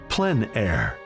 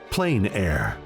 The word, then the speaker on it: plein air: open air or Outdoors the French pronounce it plan air others say plain air no matter how you